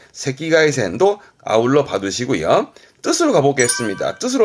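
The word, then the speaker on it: 赤外線: 그때 발음은요, 새끼가이센, 새끼가이센도 아울러 봐두시고요.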